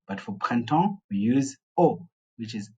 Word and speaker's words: au: for PR we use o which is au is pronounced as O So by examp mean